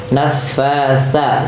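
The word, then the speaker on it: نفاثات: Nah, ini hati-hati jangan dibaca dengan sa ya. Nafasa, sa pakai huruf sa kecil yaitu titik tiga, yaitu bagaimana cara bacanya, ujung lidah kita nempel dengan gigi seri atas.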